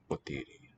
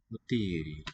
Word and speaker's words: ποτήρι: Potiri. Το αυγό. Το πιάτο. Yeah, so the ah there and the Το ποτήρι. potiri. Middle syllable sounds long.